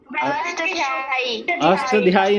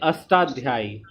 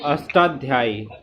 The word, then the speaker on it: अष्टाध्यायी: अष्टाध्यायी नहीं, अष्टाध्यायी। क्या होगा, बिल्कुल अष्टाध्यायी, है ना। उच्चारण सही होना चाहिए, है ना।